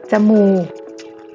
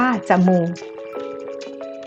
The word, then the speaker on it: จมูก: รักษา ที่ 1 ค่ะ พยัญชนะ ตัว แรก ของ คำ จะ อ่าน ออก เสียง อะ กึ่ง เสียง เดี๋ยว เรา ไป ดู